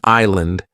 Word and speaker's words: island: In island the S is silent.